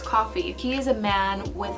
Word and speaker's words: Coffey: and he is called john coffey coffee and pronounced as coffee he is a man